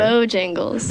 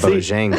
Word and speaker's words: Bojangles: It's like Jangle it's bells. bow time. You're like putting the emphasis on bow, like Bojangles.